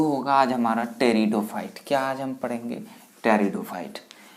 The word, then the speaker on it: Pteridophyte: ये क्या है टेरिडोफाइट, कोई भी इसको पेटेरिडोफाइटा नहीं पढ़ेंगे, ठीक है। नॉर्मली बच्चे जो आते हैं वो क्या बोल देते हैं? पेटेरिडोफाइट। तो भाई पी यहाँ पे क्या है? साइलेंट है, तो हम क्या पढ़ेंगे इसे? टेरिडोफाइट।